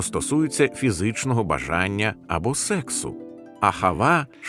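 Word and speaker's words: אהבה: Воно вимовляється ахава.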